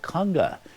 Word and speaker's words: Konga: is in a movie called kunga which sounds like it might be a film about a dance step but this is spelled KO n GA and it's a 1961